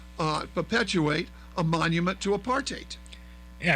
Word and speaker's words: apartheid: hundred thousand dollars so remember that apartheid rhymes with hate okay so they didn't